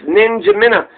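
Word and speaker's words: N'Djamena: was about to take it's actually pronounced just like it looks ninja mina which is the capital chad said ninja minutes spelled n-d-j-a-m-e-n-a ninja minnow ninja mina i guess that's where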